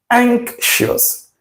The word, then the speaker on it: anxious: This word, option B here, is pronounced anxious. Anxious. Anxious. See this X here? This X has an element of K in it.